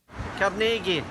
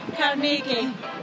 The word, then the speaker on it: Carnegie: As for the differing pronunciations of his last name, well, we'll let the people of his hometown in Scotland have the final word. Cargi. Andrew Cargi. Cargi.